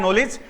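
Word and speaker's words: knowledge: फॉर an example, जैसे मैं लिख दूं नॉलेज, नॉलेज जिसको आप बोलते हैं, सही प्रोनाउंसिएशन होता है नॉलेज।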